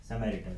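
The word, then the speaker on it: Samaritan: Next is समैरिटन, इसको pronounce कैसे करोगे आप, कैसे, समैरिटन, मैंने वैसे याद करा लिख के हिंदी में, ठीक है।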